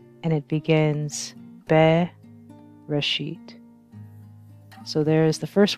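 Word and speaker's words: בראשית: 1, and it begins Be Reshit. So there is the first word of the Bible in the original Hebrew characters, and here is the transliteration, which is how you would pronounce it, Bereshit, and this translates to in the beginning.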